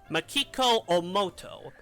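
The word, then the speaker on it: 大本眞基子: What's her name pronounced? Makiko Omoto.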